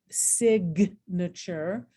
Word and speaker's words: signature: But look what happens when we get signature, bombardment, and hymnal. Okay, and now all of a sudden I hear that silent letter.